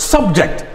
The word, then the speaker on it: subject: then subject subject subject subject is a noun but when i say subject it means i am trying to subject him to torture automatically many changes from that of being